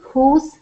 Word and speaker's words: whose: W is not pronounced with these three pronouns. Who, whose, whom.